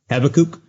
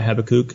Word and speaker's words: Habakkuk: Habakkuk. Oh. There's a couple of different pronunciations. I usually call it Habakkuk. It could be Habakkuk.